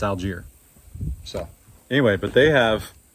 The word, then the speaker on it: Algiere: But it's Jay and Charlotte, and I had him pronounce the name, so I know it's Algier.